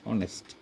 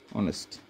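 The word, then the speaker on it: honest: যেমন মনে করো এন অনেস্ট, অনেস্ট, তাহলে এক্ষেত্রে কী হবে, এন অনেস্ট হবে, এখানে এন অনেস্ট।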